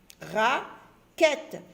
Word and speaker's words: raquette: Le E se lit E, comme s'il y avait un accent ici. Raquette. Je ne dis pas raquette, je dis raquette.